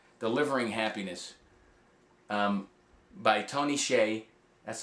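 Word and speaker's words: Hsieh: one is called delivering happiness um by Tony Shay that's how you pronounce his name tonyy Shay he is the CEO and the the creator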